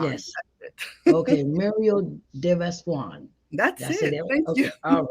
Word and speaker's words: Vassoigne: Mariel deas so think Swan you know the the bird deas Swan that's it okay Mario deas Swan that's it all right